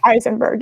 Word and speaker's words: Eisenberg: It's Susan Eisenberg, I think. Eisenberg. Eisenberg, yes. Like Heisenberg.